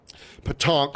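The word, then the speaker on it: pétanque: Petanque, same pronunciation aside from a nasal sound, as English doesn't have those.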